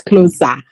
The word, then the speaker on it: Kloza: It's spelled Kloza. It's Kloza.